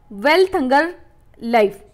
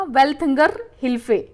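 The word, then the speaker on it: Welthungerhilfe: दूसरी एक private add organisation है जर्मनी में, जिसका नाम है आपका वेल्थंगर लाइफ, ठीक है, वेल्थंगर हिल्फे, गलत नाम प्रोनाउंस किया मैंने इसका, वेल्थंगर हिल्फे।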